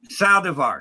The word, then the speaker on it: Saldivar: No one ever says it right, but it's Saldivar. Saldivar. Even though I'm white, I'm Mexican. Saldivar.